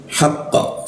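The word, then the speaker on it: الْحَقِّ: Kalau tidak ada tasdid dia akan memantul haqqa seperti itu. Tapi kalau ada tasdid itu seperti tertahan oleh tali dia. Haqqa seperti itu. Jadi jangan langsung dialirkan pantulannya, tapi ditahan.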